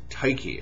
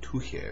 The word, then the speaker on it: Tyche: Before they could actually do that, they started to venerate another goddess, Tyche, and I think I'm mispronouncing that. I think the ancient Greeks would have pronounced it Tuche or something like that.